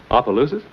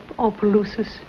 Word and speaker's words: Opelousas: Opelousas? Yes. I do not care for the country, you see. And my dear husband, he spoiled me. He longed for the tranquility of Opelousas, but I was very young, and tranquility had